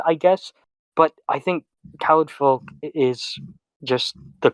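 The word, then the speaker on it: Caledfwlch: Caliburn, that's okay, I guess, but I think Khalid Folk is just the correct way to say it.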